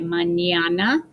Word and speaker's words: mañana: For example, mañana means tomorrow. So pretend that it's spelled M-A-N-Y, mañana, and piñata.